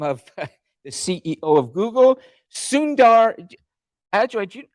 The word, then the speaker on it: Sundar: good do you mind telling us how you pronounce the CEO of Google's name just correctly go ahead I think uh it's Sundar Sunder Sundar we want for good for good sources we